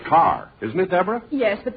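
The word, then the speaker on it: Kerr: do you mean mistake it's spelled k e r r isn't it yes but in England it's pronounced car oh just like here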